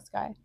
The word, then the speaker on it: SCY: Is it like Is that how you pronounce S C Y? Yeah, like Sky.